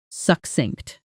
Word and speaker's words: succinct: The stress is on the second syllable. Practice with me. Succinct.